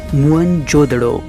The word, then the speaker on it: मोहनजोदड़ो: आओ दोस्तों आज हम मोहनजोदड़ों की गलियों में घूमते हुए हमारी प्राचीन सभ्यता के गौरवपूर्ण अतीत को महसूस करने की कोशिश करते हैं है मोहनजोदड़ों शब्द का सही उच्चारण है मोहनजोदड़ों और सिंधी भाषा में